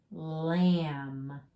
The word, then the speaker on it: lamb: lamb no lamb so remember when you have that b at the end the m b that b is quiet you see them b